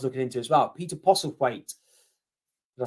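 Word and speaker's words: Postlethwaite: other guy was looking into as well Peter POS weight did I say it correctly he POS weight yeah great actor he's in sharp and things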